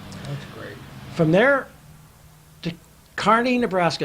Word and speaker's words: Kearney: From there to Kearney, Nebraska. It's pronounced Kearney by the natives, Is not it Kearney. really? Kearney. Carney. Not only that, they spell the town with an E in it,